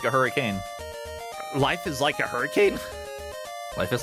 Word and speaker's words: Hurricane: We have a city in Utah that is spelled hurricane, but it's pronounced hurricane. Yeah, Utah's stupid. I can accept that one as like as a quirk of like regional pronunciation.